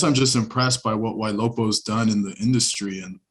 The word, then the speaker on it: YLOPO: It's just tricky for people to pronounce it. I get Yeah. YLOPO, YLOCO, YOLO.